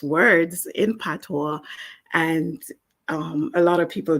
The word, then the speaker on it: patois: And PATOIS is pronounced patois. It's a French word.